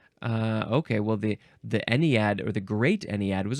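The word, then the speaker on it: ennead: don't like a thing the next word is anad anad yep e n NE e a e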